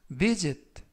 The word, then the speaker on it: visit: 이번 표현은 visit 라고 발음하시면 되겠고요. 이때 S 발음은 스가 아니라 z.